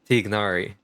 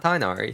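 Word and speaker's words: Tighnari: zingu zingu and uh tigari not tari tigari and zing you then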